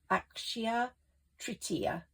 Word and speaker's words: Akshaya Tritiya: So it's like Akshaya Tritiya. It's a great day for manifesting. So it's spelled AXCHIHA, and I'll put that in the box at the bottom.